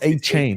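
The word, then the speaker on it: Achane: aan so you're gonna is it aan or a chain I've been calling him a as per Devon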